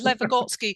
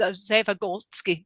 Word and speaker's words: Lev Vygotsky: I could never pronounce it. Lev Vygotsky. I always think it's Zev Vygotsky. Lev Vygotsky.